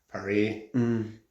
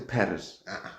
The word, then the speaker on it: Paris: I've been in Paris. Yeah. So, I know this. Is that how they say it in French? Par. They don't say Paris. Pari. Par.